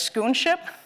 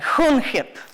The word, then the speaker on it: Schoonschip: You may read it as schoonship, but then he would laugh and say it has to be pronounced in Dutch, and it's something like hoenhip. But people who are Dutch can correct me on that.